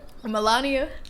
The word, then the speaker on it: Melania: Melania? That's how it's spelled. Eric. It's Melania?